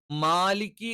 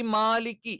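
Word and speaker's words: مالك: അതുകൊണ്ട് തന്നെ മാലിക്കി എന്നുള്ളത് ഒരിക്കലും മാലിക്കി ആയി പോകരുത്, അഥവാ ചെരിഞ്ഞു പോകരുത്. മാ എന്ന് തന്നെ കറക്റ്റ് പറയണം. രണ്ടാമത്തേത്, ഞാൻ ഈ ആകാരവും ഇകാരവും ഉകാരവും ഒക്കെ പറഞ്ഞത് എന്തിനാന്ന് വെച്ചാൽ, ഈ മാലിക്ക് യൗമിദ്ദീൻ എന്ന് പറയുന്നത് പല ആളുകളും യോമിദ്ദീൻ അല്ലെങ്കിൽ യൗമിദ്ദീൻ എന്ന് പറയാറുണ്ട്.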